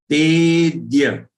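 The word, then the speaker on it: तेऽद्य: Again, if you look at the last word in the first charan, Tedya, te, long one. So make sure you are pronouncing it sufficiently long. And thereafter, get the aghat for half the, which is joined with ya. So it is dya, the ya, Tedya. And ignore this avagrah.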